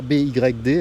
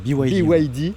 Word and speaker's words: BYD: Il y a ce gros logo BYD parce que c'est comme ça que ça se prononce he c'est pas BD hein. Non ou c'est BYD.